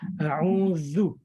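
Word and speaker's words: أعوذ: A'udzu. Gigit lidah. Zu. A'udzu. A'udzu.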